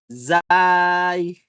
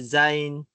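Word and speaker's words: زاي: So next ay zay, no? Mayroong mga sinasabi zain o zay, no? Zay. Aywa. Zay. Ang malaga ito ay zay. Malinaw po? Za. Parang rin, pagbigkas natin ng zay, zay.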